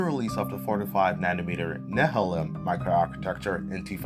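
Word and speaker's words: Nehalem: It began with the release of the 45 nanmter Nehelm micro architecture in 2008, a new design and the 32nm Westmir micro architecture in 2010 using the same Nehalm design. That's how you pronounce it.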